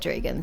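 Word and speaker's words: Drieghan: But everyone in this country, kingdom, place, seems to call it Dregan, so that's why I have to call it that way. But I still maintain that it's not spelled correctly if you want to pronounce it thusly.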